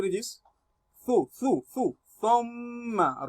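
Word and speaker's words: ثُمَّ: Thumma. Remember how to read your tha'un by placing the tip of your tongue on the back edge of your front teeth. Then tha'un is pronounced correctly. Thumma.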